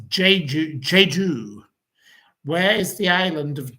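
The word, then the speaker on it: Jeju: Um, where is Now this is uh it's pronounced Ju Ju.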